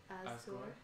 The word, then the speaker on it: Asgore: Okay, how do you pronounce that name? Asgore.